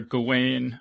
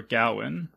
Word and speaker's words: Gawain: guess you could say the main character's name is either gawain or gowan in the movie they actually say gowan um that's a piece